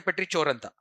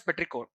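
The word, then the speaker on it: petrichor: Uh don't don't say Petria. Okay. You pronounce it as Petricco.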